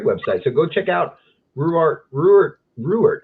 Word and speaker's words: Ruwart: so go check out reward reward how do you say your name it's rubert you can say why